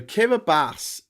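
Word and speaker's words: Kiribati: So Kiraabas is a corruption of Gilbert Islands because that's originally what those group of islands were called.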